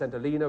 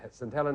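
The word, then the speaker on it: St Helena: reason I hesitated at the end is it's pronounced s Elina which you said s El it was the right answer you made the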